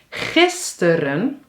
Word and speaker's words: gisteren: Gisteren, klemtoon, teren, 2 keer e.